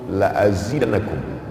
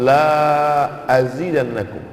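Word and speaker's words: لأزيدنكم: La in syakartum la azidannakum. Lamnya pendek. Kalau kamu bersyukur, aku tambah nikmatku. Tapi kalau dibacanya panjang, la in syakartum la azidannakum. Tidak ku tambah.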